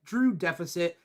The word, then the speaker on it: Drew X deficit: Drew X deficit AKA pronounced like Drew deficit the x is silent what's up Drew uh